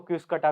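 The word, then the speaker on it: Cuscuta: और इसका exact pronunciation तो देखो मुझे भी एग्जैक्टली नहीं पता, हम तो इसको कसकटा ही बोल लेते हैं, बाकी कुछ लोग इसको क्यूसकटा भी बोलते हैं।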